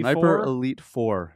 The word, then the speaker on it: Sniper Elite 4: Sniper Elite 4. There's no V. No V. There used to be a V. The V is silent.